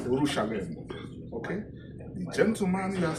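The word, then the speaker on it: Urushalayim: What should the original pronunciations is Urushalem. Urushalem.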